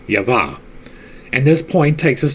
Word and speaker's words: Jehovah: Eve has the name of 3 letters, but the primitive Adam is signified simply by the letter Yod, whence Jehovah should be pronounced Yavah.